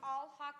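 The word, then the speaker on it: Alhaqq: It's pronounced Alhaq, A-L-H-A-Q-Q.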